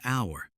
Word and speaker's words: hour: An apple, an umbrella, an hour. Notice that hour begins with the letter H, but the H is silent.